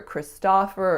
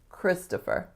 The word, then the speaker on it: Christopher: I think the biggest trick is that most speakers of North American English are going to make that second syllable what? Christopher. A schwa. And oftentimes I don't hear Christopher, I hear Christopher or Christopher or something similar. So strongest syllable is the first, Chris, to, and then fur.